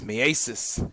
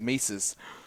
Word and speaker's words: Mieses: It's Mieses. It's no longer his nemesis. But it's not one I ever would have gotten if I hadn't seen the pronunciation guide. I would have gone with Mises.